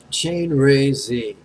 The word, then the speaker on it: Chenrezig: Chain, just like a bicycle chain. Second syllable, ray, like a sun ray. Ray, ray, your turn. Ray. Last syllable, Zieg. Sorry, as a Jew, the first thing that comes to mind is Zieg Heil. But anyway, Zieg, Zieg, Zieg.